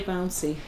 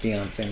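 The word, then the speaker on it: Beyoncé: you though I personally I enjoy bouncy it's pronounced Beyonce mom it is MHM oh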